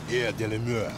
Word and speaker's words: Air de la Mer: I'm gonna call it Air de la Mer. You gotta say it like that, like you French. Air de la Mer. Oh, yeah. Not Air the Dumbass.